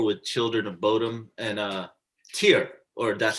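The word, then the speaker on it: Týr: Like we were on tour with Children of Bodom and Tyr, or that's how you say it, Tyr, however you want to say it. You're right, Tyr.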